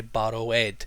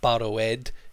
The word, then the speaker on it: borrowed: They see this ed and they say borrow-ed. It's not borrow-ed, it's borrowed.